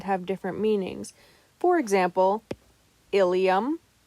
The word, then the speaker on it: ilium: different meanings for example ilium and ilium are both spelled differently yet are pronounced the same the ilium is a